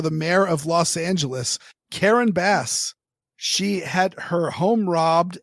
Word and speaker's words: Karen Bass: Karen Bass. Are you sure that's how it's pronounced?